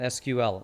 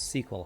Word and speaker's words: SQL: You can pronounce it as sequel. Ah, not SQL, it's sequel, huh?